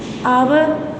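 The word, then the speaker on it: hour: एच इज़ not pronounced at the beginning of many words, कुछ ऐसे words हैं जिनके शुरू में भी जो एच है वो साइलेंट हो जाता है। आवर में अगर आप बोलते हो ओ की साउंड आती है, आवर, ऑनेस्ट, ऑनर, एयर, अर्थ, तो इसमें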